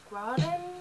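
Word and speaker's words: Graudin: I also received Wolf by Wolf by Ryan Graden, I like to say is the pronunciation.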